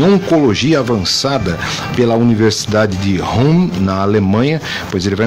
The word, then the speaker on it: Ulm: A pronúncia é Ulm. Ulm.